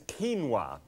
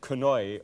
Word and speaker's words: quinoa: on right now and what I'm going to deal with is quinoa and q-u-i-n-o-a and you might have pronounced that kanoi or something like that I used to and it's all right